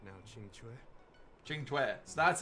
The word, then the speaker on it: Qingque: Qingque. So that's how that's pronounced.